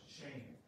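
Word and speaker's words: שם: word by my name the hebrew word is pronounced shame and i got to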